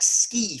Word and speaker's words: ski: Which is why when we borrow words, borrow quite modern words like ski, for example, the I is still pronounced like an E, as it should be, and as it used to be in English.